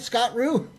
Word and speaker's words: Scott Roux: Did I say it right, Scott Roux?